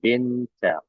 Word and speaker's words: Winter: Bukan winter ya, tapi dibacanya winter ya. Winter.